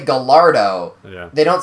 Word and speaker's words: Gallardo: the Guy Lardo? Nope. The Guy Lardo. You're combining the correct and incorrect pronunciation of the actual The L's vehicle. are silent in that word. Yeah. But usually people say Gallardo.